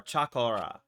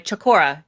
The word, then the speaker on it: Chakora: So in Hindu mythology, they're referred to as the Shakora or Chakora. Is it H? Chakora. O-R-A, Chakora. Yeah, Chakora. Chakora.